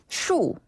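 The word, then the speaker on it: 树: 나무는 나무 숫자를 써서 중국식으로 발음하면 슈 슈 한 번 더 슈 슈 그렇죠 위에서 아래로 뚝 떨어지는 슈 발음이고 아 이게 나무 끝이에요네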